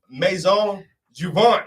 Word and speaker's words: Maison Jouvence: Joining me right now, Miss Odette Shirley from Maison Jouvence.